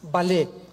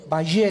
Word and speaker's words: Vallée: El más grande experto en ufología o en ovnis se llama Jacques Vallée, con B de Víctor y doble L. Vallée se escribe, Jacques Vallée, Vallée en francés.